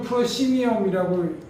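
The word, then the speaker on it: proscenium: 그래서 프로 스케니움 영어식으로 읽으면 프로시니엄이라고 읽지만 생긴 그대로 우리가 스펠링대로 읽어보면 프로스케니움이라고 돼 있지 않습니까?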